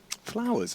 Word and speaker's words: flowers: Flowers, it's a lot of syllables. I don't think there's any flowers there. Flowers. Yeah. 2 syllables, Alex, not 3.